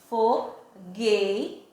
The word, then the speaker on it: fogueira: a palavra fogueira eu não falo se Ei o som se eu não for não sei fogo eira não pronuncia a palavra fogo leira a palavra é fogueira Então esse um ele